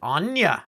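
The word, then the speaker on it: Áine: Oh I'm no, it's Aang. another troll. Oh, Anya. I'm Anya. She pronounces it Anya.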